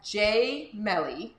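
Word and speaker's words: gemelli: So it sounds like gem in English, but we say it as Gemeli because it's Italian.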